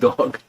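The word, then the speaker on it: דג: Hebrew is dag, pronounced dog, which means fish.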